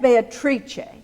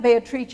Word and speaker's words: Beatrice: in Comedia he met Beatrice we'll use the Italian pronunciation of that person's name today as that's what we're we're talking about he met Beatrice he tells us when